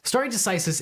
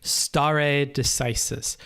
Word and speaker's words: stare decisis: doctrine that theoretic obligates I'm gonna take a note of how to pronounce that because I have not been pronouncing that correctly stare decisis star a decisis it's like Harry Potter if you don't say the Latin right the spell won't work okay stare decisis let's